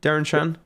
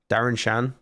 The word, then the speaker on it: Darren Shan: they were good sounds familiar did you read Darren Chan possibly watched it never really Darren Shan I need a owl ocean